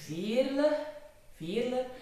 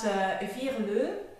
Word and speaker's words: Veerle: Well, it is Veerle, not Veerle, like the French, or not Veerle, like the English-speaking people, but it is Veerle. It is a very Flemish common name.